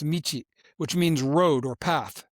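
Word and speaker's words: 道: In Japanese, it's pronounced michi, which means road or path.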